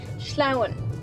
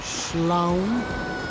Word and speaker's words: sleamhain: Sleamhain. Sleamhain... it sounds onomatopoeic. It sounds like you're sliding - "sleamhain"!